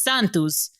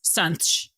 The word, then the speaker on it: Santos: give you an example my last name santos in brazilian portuguese it's santos in portugal's portuguese it's sanch so it's like very like closed very garbled and we basically don't pronounce our vowels at all and hard i think